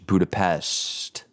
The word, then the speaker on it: Budapest: Shh, Budapest. That seems to be the most common pronunciation.